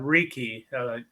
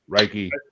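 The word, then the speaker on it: Reiki: I'm pronouncing that incorrectly raiky I've tried raiky raiky I don't know I think it's reiky at least I think it's raiky but yeah I think it's raiky like you're raking the lawn yeah what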